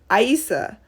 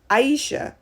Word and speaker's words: Isa: person with names like my name is ISA not Aisha so I just yeah